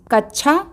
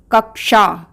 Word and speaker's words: कक्षा: तो बना कक्षा पर परंतु कुछ लोग इसका कच्छा उच्चारण करते हैं जो कि अशुद्ध उच्चारण है इसका सही उच्चारण होगा कक्षा आइए बच्चों दूसरा शब्द